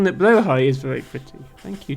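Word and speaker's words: Blåhaj: roughly how it's pronounced it's a more accurate pronunciation than blah hardge which is what English people tend to say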